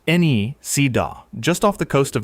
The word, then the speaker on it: Nisida: Pronounced Nisida.